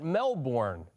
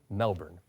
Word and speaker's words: Melbourne: where is she today it's a city we mispronounce a little bit don't call it Melbourne Viv goes to Melbourne I'm in Melbourne today another East ghost Beach